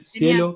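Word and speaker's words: SciELO: Una es Cielo, que se escribe con S y C, Cielo. S-C-I, y S y después Cielo como el cielo.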